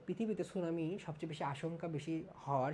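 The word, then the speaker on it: tsunami: তো এই সুনামি এটা একটা জাপানি শব্দ এবং যখন আমরা ইংরেজি বানানটা লিখি তখন কিন্তু আমরা টি দিয়ে লিখি এই বানানটা, এটা বেশ ইন্টারেস্টিং।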